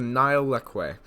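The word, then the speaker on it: Nile lechwe: Next up, we have the Nile leque. And yes, that is how you pronounce it because I just searched it up.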